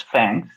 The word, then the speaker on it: THX: We pronounce it as Fangs.